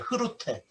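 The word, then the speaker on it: Groote: 네덜란드에 이제 그루트라고 제가 이제 했지만 원래 그 네덜란드식 이제 발음 흐루테예요. 흐루테.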